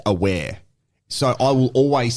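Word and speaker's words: Awer: So uh in Adelaide United for example we had a player that traditionally here um they call him Awa but his his name is pronounced aware so I will always say how he likes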